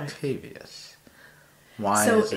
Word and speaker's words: Octavius: So there's an extra I in there. It wouldn't be Octavus. It's right. Octavius.